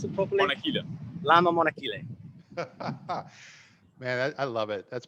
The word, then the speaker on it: Lama Monachile: Is that how you pronounce it properly? Monachile. Lama Monachile.